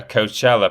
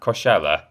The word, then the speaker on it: Coachella: to put on a coachella performance how do you pronounce that coshella i think coachella is right coachella uh that was